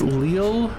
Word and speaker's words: Lille: It's pronounced Lille, but no, you're not being there.